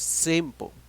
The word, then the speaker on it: simple: The correct pronunciation is simple. So now, what is the stress? The stress, okay, the voice that you listen is in the first syllable, sim, okay, that's why you have to add letter R.